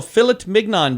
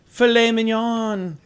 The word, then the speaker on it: filet mignon: saturday is your day national philip mignon day oh i'm sorry filet mignon you ever heard somebody pronounce it philip only you oh really see